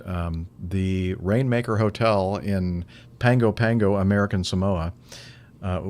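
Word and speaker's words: Pago Pago: the rainmaker hotel in pango pango american samoa uh spelled p-a-g-o-p-a but some reason it's pronounced pango um was the first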